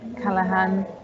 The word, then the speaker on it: Callaghan: waltham forest council um i've also got callahan um with me have i pronounced your name right yes you have